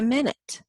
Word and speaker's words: minute: hour or 60 seconds they're talking about a minute but we also have another word in our vocabulary which is minut it's spelled exactly the same way it's pronounced differently